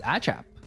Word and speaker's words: ACAP: I have just gotten a confirmation from one of our friends that ACAP is actually pronounced as Achap.